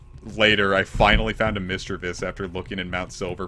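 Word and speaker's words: Misdreavus: Yeah, it's like Mischievous, but Mischievous. I used to pronounce it Misdrevious, and then I think I heard it as Mischievous in the anime, and I changed it over.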